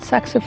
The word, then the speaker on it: saxifrage: And I think one of the best things in a rockery are saxifrage. Is that how you say it? Saxifrage? Yeah, saxifrage.